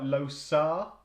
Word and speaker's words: Losar: Really, it's called like Losar. I think it's called. It's spelt loser.